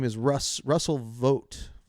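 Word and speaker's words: Vought: name is Russ Russell vote Voit vote vot I actually think is how it's pronounced v u ght and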